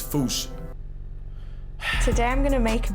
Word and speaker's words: fossa: Malagasy word, and apparently the correct way to say it is Foosh. Like Foosh with a performance anxiety at the end. Foosh! Foosh! Foosh! First, feel free to correct me, but apparently that is the closest to the OG Malagasy pronunciation. It's just that the global game of telephone has Americans saying Fusa, while England pronounces it as Fossa.